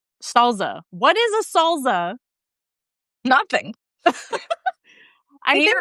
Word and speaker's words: salsa: to say the word SALSA. Salsa. Okay, so I think it's salsa, right? Just with an American accent. My dad says salsa, like with a Z. Salsa. What is a salsa?